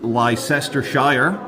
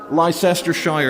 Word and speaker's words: Leicestershire: Which uh the Americans should pronounce as Leicestershire. Leicestershire.